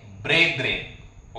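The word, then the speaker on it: brethren: ब्रेद्रेन असं म्हणत असतो स्पेलिंग करेक्शन करून घ्या बी आर इ टी एच आर इ एन प्रोन्सिएशन काय आहे ब्रेद्रेन ओके समाजातील भावंडे यांना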